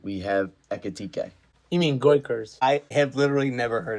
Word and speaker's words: Gyökeres: You mean Goikers? I have literally never heard it pronounced that way. Gyökeres? It is. I've only seen it written. It is pronounced Gyökeres.